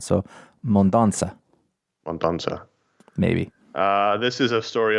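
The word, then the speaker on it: Mendonça: Well, actually, the little Side on the C would indicate that it's a soft C sound, so Mondonza.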